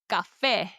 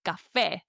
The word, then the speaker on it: café: And Spanish has these little tildes, little accents on top of the vowels to help emphasize where the stress falls in a word.